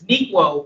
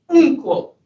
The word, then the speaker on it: Nikwo: Is pronounced in American terms, Nikwo, but in his native country it's pronounced Unkwo, Mr.